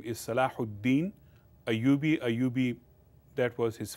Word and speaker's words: Salahuddin: His European called him Saladin, but his real Arabic name is Salahuddin Ayyubi. Ayyubi, that was his family, and so his real name was Salahuddin. So European could not pronounce Salahuddin, they would say Saladin.